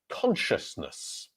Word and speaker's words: consciousness: For example, Ahmed here has the word consciousness. Consciousness. Consciousness. So this has lots of sh and s in it. So we have k at the beginning, sh. The next one, shusness.